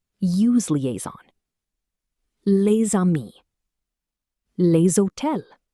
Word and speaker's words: les hôtels: Les hôtels, pronounced les hôtels.